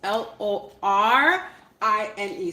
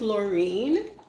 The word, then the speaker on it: Lorine: my name is spelt l o r i n e so my name is lorine my name is Loren but Jamaican people say Len I don't know why it is what it